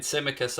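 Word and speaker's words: Tsimikas: going out and getting symmicus i believe that's how you pronounce this now i think this the t is silent uh from olympiakos for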